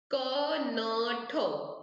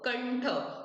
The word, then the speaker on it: कंठ: म से करते हैं, जैसे कि कंठ, क न ठ, कंठ। तो यहाँ पे वो टिम जो फुल फुल स्टॉप बोले, वो डॉट है ऊपर, उसको क्या हम लोग प्रोनाउंस करेंगे, न।